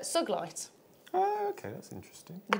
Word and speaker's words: sugilite: also got now it's I would normally say sugilite because it should be a soft G but because it's named after a certain person it's it's uh suglite oh okay that's interesting